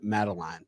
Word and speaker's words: Madeleine: So I make up a very small portion of what this man does, Mr. Brian Madeleine. Am I saying it right? You got it, man. Brian Madeleine.